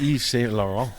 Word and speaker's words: Yves Saint Laurent: So Oh, it's Yves Saint Laurent.